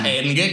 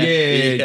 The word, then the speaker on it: N-Gage: Nah, N-Gag gak tuh bacanya? N-Gage.